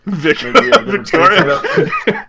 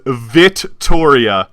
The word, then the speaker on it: Vittoria: Victoria. Gotcha, brother. Just to clarify something really quick, her name is Vittoria, no C. I know, I'm saying it wrong on purpose.